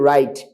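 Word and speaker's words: wrong: উচ্চারিত হবে নাচার number W এর পরে যদি আর থাকে তাহলে কি আর উচ্চারিত হবে নাকি হবে না অবশ্যই আর উচ্চারিত হবে না যেমন আমরা সারাজীবন পড়েছি right W আর IT right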